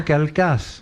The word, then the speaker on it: Calchas: C'est le devin Calcas. Oui, oh, oui, ça mais s'écrit Calchas.